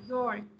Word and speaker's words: you're: You are này khi mình tắt sẽ đọc là your. You're beautiful. You are này đọc là your.